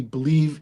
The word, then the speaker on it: Bleav: It's weird Yeah. because it sounds like believe and you'd spell it like that, but it's not spelled that way.